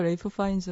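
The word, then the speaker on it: Ralph Fiennes: 해야 된데요 파인즈 예 그 가문의 발음을 존중하기로 했으니까 우리가 그 숲 안에서 레이프 파인즈 라고 부르고 오늘은 매드 파이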